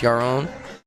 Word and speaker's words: Yaron: I'm just gonna call him Yarn. He told me it's Yaron, but I think that's how that's my best attempt to pronounce it.